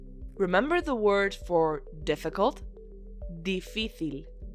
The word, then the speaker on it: difícil: And the word for difficult is difícil, so almost the same, with an accent on the middle I.